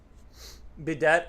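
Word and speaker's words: bidet: I'm trying to I'm trying to figure out bedet is pronounced as by as big and bet as in day. Wait, bedet is pronounced so it is French. Uh like uh it's pronounced by as in big.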